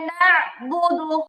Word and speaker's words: نعبد: ওকে, ইয়াকা না'বুদু। ইyyaka na'budu না, না, إياك বুঝছেন? এই খেয়াল করেন, এই আইনের না মধ্যে প্রেসার হবে।